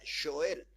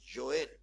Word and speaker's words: Joel: a sobre Joel y en realidad se pronuncia Joel eh Así se pronuncia Joel y vamos a leer